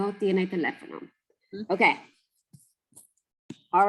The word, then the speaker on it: teléfono: And then teléfono. Teléfono. Okay. Teléfono. So those accents tell us we got to punch that syllable.